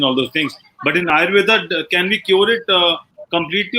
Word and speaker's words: Ayurveda: Well, yeah, but the word is AYURVEDA. That's Ayurveda.